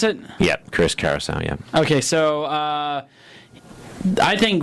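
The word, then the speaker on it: Chris Cariaso: Is that how you pronounce it? Yep, Chris Carousel.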